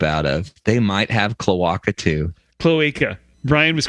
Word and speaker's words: cloaca: They might have cloaca too. Cloaca. Brian was correct on the pronunciation.